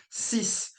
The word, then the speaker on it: six: For six, six, you would pronounce the S at the end, right? Six.